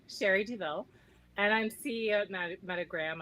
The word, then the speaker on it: Douville: words oh sure so my name i pronounce duville sherry deville and i'm ceo of